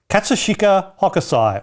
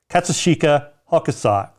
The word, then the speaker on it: Katsushika Hokusai: punk c print making or d sumo wrestling katsushika hakusai or actually might be katsushika hokusai you want me to spell it i don't know where the hell if